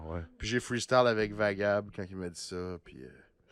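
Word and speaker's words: Wagab: W-A. G-A-B, parce qu'avec la prononciation espagnole, ça fait Vagab.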